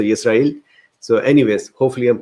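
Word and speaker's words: ישראל: So the person enlightened us that it is a biblical word, and it is Yisrael, and I think the il is the more there is stress on that. So Yisrael.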